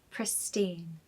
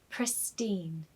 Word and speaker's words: pristine: Absolutely pristine. A pronunciation tip. The last syllable should be pronounced as teen. So it should be said as pristine, pristine.